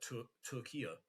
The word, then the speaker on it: Türkiye: Turkey the the nation of Turkey is like it's spelled differently and it's like Tu- Turkia or something you're supposed to say now.